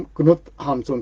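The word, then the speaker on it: Knut Hamsun: साहित्यकार थे, जिनका नाम क्नुत हामसुन था। KNUT, अगर अंग्रेजी में देखें जैसे नट लिखते हैं वैसे ही उनका नाम है, लेकिन नॉर्वेजियन भाषा के हिसाब से उच्चारण होता है क्नुत हामसुन।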